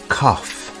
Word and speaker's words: cough: do you have a cough the word cough has an unusual pronunciation instead of a g sound we have an F sound here do you have